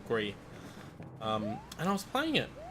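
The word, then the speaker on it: Gris: I actually played a game late last week called Gree, which I mispronounced entirely when I was on stream as Gress, but it's actually meant to be called Gree.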